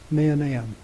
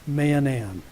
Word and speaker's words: Mahanaim: is the principle of manam now that's the proper name of a place that's spelled ma a h a n a i m Manan and that means two